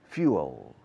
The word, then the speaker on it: fuel: But when a plane is taking off, it has a lot of fuel, combustible, fuel, escrito fuel. Se pronuncia few, como pocos, fuel, fuel, fuel.